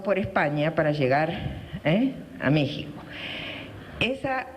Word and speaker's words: México: les paso un comercial méxico se escribe con x y se dice méxico no se dice méxico se dice méxico y esa x tiene